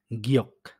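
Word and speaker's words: 기억: উদাহরণ দেখা যেতে পারে গিয়ক, গিয়ক। এখানে ১ম এ গ এর মতো হইছে আর নিচে বাচ্ছিমে হইছে জন্য এখানে ক এর মতো হইছে গিয়ক।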